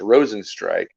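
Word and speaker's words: Rozenstruik: rosenstrike that was how i i pronounced his name wrong by the way so it's rosenstrike that's how you pronounce his name and he lost so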